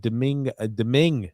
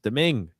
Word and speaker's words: Deming: And Nick D said, TJ, Deming is how it's pronounced. Deming.